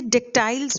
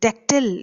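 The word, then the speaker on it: dactyl: अब जब हम ओविड की बात कर रहे हैं, मेटामॉर्फोसिस की, जितने भी ग्रीक, लेटिन एपिक्स थे, वो बच्चे डेक्टाइल्स में, डेक्टिल इज द राइट प्रोनाउंसिएशन, डेक्टिल में लिखे जाते थे।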